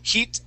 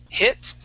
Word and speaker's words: hit: an e sound okay so when you read these two words you you said heat him okay using more of an e sound all right so what I want to practice yeah we're g to practice the short I we're going to say h hit him try that hit